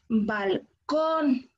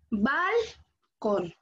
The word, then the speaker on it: balcón: Muy bien, porque nosotros decimos balcón, no, balcón. Porque si se dan cuenta suena totalmente diferente.